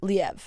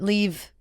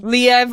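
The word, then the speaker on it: Liev: like he's gorgeous yeah his IMDb does say pronounced leev H okay but leave I mean I'm sure people like leave you know leev oh sorry excuse me let me refrain let me backtrack leev shriber I do I also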